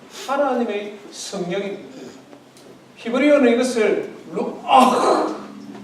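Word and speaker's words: רוח: 히브리어는 이것을 루아흐. 히브리어는 이 발음이 가래 끓는 소리가 나거든요.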